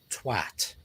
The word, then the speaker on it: twat: short I posted on how you pronounce the word twat. Rhymes with cat and hat and shat.